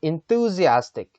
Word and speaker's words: enthusiastic: enthusiastic. 어떻게 읽거든요? enthou가요. 이렇게 좀 장음이에요. enthusiastic. 그래서 뚜를 길게 빼주셔야 돼요. 그래서 enthusiastic. 이게 한글이랑 영어 혼용이 안 되네요. enthusiastic. 이런 느낌. enthusiastic. 그죠? 여기 Z 발음 납니다.